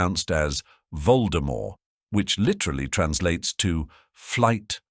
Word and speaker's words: Voldemort: is usually silent so the name should be pronounced anounced as Voldemort which literally translates to flight from Death however